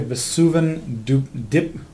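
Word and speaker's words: Vesuvan: Secondly, I want to take a look at Vesuvin Duplication.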